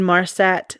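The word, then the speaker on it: Inmarsat: So even though it stopped communicating with air traffic control, the aircraft was still automatically pinging and in Marsat satellite system. I might have pronounced that wrong, but it's I N M A R SAT.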